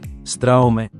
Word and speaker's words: Straume: la conocemos por acá porque en realidad se pronuncia Straume.